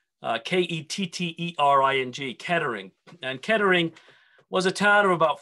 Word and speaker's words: Kettering: the heart of england at a place called kettering k-e-t-t-e-r-i-n-g kettering and kettering was a town of about